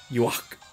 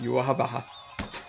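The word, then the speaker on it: Yhwach: So you would think it would be something like yeah, Yuak, or if you go extremely German, Yuach, or the way the Japanese would pronounce that word. But when Kubo penned in the one or two places where the pronunciation is, it's Yuahabaha.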